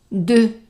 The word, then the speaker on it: deux: is sion, réservation, pour, deux, and the X is silent, so deux personnes, ES at the end, silent.